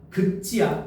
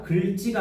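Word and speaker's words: 긁지: 16번 극지야. 글지가 아니고 극지야. 음.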